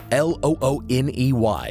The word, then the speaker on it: Looney: L O O N E Y Looney. But since the man insisted that it rhymes with Bologoney, then we'll say it rhymes with baloney.